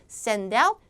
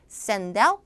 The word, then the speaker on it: send out: 자, 그래서 자, 아이디어는 최대한 간단하게 send out text messages. send out text messages. 자, 구동사는 뒤에 강세였어요. send out 하면 무슨 의미야?